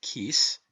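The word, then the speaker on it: cíos: Such, for instance, are the Irish words ciocras, pronounced kukras, meaning hunger, and the word kis, pronounced kis, meaning rent.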